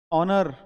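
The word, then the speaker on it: honour: एन ऑरेरी house a house horse a horse ऑनर एन ऑनर इसमें भी H silent होता है तो वर्ड की शब्द से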